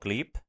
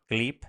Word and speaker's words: Gleap: Second one, we're playing around with a tool called Gleep. Gleep. How do you spell that?